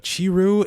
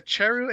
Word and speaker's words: Cheru: and then I saw this characters by the name of Chiru and Goguma. Is that how you say it? Yeah, it's a Cheru and Goguma.